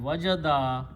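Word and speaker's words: وَجَدَ: Again, very carefully pronunciation. Wajada, waw, jim and dal means to find.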